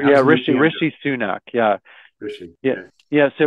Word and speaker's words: Rishi Sunak: Yeah, Rishi Sunak.